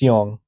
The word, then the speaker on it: Jung: Originally formulated by the Swiss psychiatrist Carl Gustav Jung, or Jung. It's Jung. Pretty sure that's how it's pronounced.